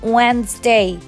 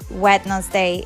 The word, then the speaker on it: Wednesday: the letters it's D in this word d is silent we say Wednesday Wednesday we don't say Wednesday wetness day it's kind of weird